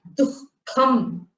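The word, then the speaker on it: दुःखम्: Here the visarga is after the du. So you have to pronounce it. I told you jihva muliyaha is a visarga before ka and kha, right? So here du followed by the visarga followed by kha. You have dukham. Can you pronounce that? Dukham. Dukham. You have to pronounce it with a ha.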